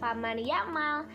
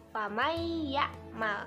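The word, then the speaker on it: فَمَن يَعْمَلْ: adalah dimasukkan atau didengungkan kalian jangan baca family amal Tapi bacanya famaiyakmal Hai contoh yang kedua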